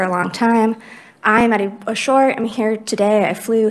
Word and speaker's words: Ashore: your last name correct is it to shore sure yes okay great welcome from excel in ed yes ma'am hi everyone my name is ashore i'm here representing excel